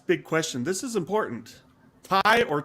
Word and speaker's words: Ti: fisher fisher started it everyone at nvidia always used to say ti and then all sudden fischer started going thai like okay anyway i say ti i'm going to keep